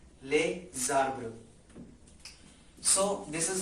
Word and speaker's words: les arbres: The next is les arbres, and again, yes, we have to make a link here, as it is consonant S and then vowel. A consonant is being followed by a vowel, so the sound or the pronunciation of this noun will change. It will be les arbres, les arbres.